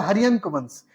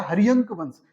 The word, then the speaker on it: हर्यंक वंश: अगला जो राजवंश है दूसरा, वो देखिए कौन है, वो है हर्यंक वंश। इसको बोलिएगा हर्यंक वंश, हर्यक वंश नहीं बोलिएगा, इसका नाम है हर्यंक वंश, ठीक है।